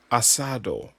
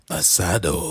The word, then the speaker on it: asado: Ideal to serve with cheeses, red meats, mushrooms, stew, and the typical Argentine asado.